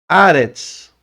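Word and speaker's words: אָרֶץ: Então você lê Aretz, porque aqui tem um patar. Se eu tirar o patar, ó, tirar o patar e colocar um tserê, Eretz.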